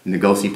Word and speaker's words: Nokuse: Ngozi plantation.